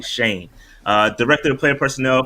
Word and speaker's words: Schoen: assumptions so Joe uh Shane is how you pronounce his last name it's actually Shane uh director of player